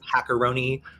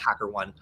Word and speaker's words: HackerOne: then like Bugcrowd or Hackeroni, either one of those could be, or I believe it's pronounced HackerOne.